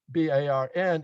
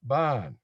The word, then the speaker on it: barn: of east of that the word b-a-r-n is pronounced bon whereas west it is a barn right you know so